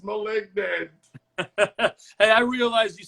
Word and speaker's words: Malignant: It's not Malignant, it's Malignant.